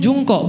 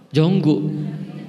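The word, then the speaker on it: Jungkook: Contoh Jungkok BTS itu kan tulisannya jungkok. Bacanya apa? Bukan jungkok, jonggu, pusing kan?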